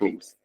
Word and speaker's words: meme: And he thought that gene rhymes with meme.